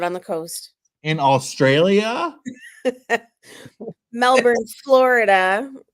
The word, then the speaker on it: Melbourne: Melbourne, Florida. Right, okay. Pronounced the same as Ben Rankin's Melbourne.